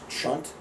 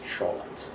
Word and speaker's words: cholent: The name of that dish is two pronunciations. One is chunt and the other is cholent.